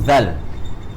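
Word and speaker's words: ذال: Then same goes to zal. Zal. Right? That's the proper pronunciation of this huruf.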